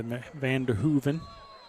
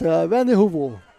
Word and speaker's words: Vanderhoovel: What a great run by Vanderhooven. Is that how we pronounce that? It's Vanderhoovel. Vanderhoovel. Vanderhoovel, yes, sir.